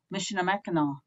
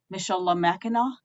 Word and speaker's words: Michilimackinac: And so when I was over there, I always knew that area as Mishinamakinaw, or pronouncing it the English way, Mishalamakinaw.